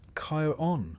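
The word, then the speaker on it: Charon: Even if you've never quite been sure how to pronounce his name, it's Kyon for the record, though he doesn't seem the type to correct you.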